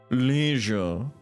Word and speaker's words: leisure: Leisure. It's leisure. Because it rhymes with pleasure.